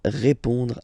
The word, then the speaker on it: répond: So, final D is not pronounced. You only have this on nasal sound at the end.